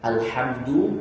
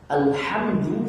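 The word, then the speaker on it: الحمد: Tapi kalau alhamdu dengan ha, kebinasaan bagi Allah.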